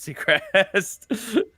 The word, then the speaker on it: Sechrist: says yeah they were both made by rad Seacrest and it is pronounced secret they did to Ryan though I need to